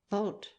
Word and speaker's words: vault: gradually to be pronounced vault rhymed with thought in the 18th century and only in the